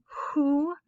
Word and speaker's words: who: WH, as in who, whole, whose, gives us an H sound.